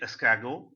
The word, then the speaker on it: escargot: Okay, escargot.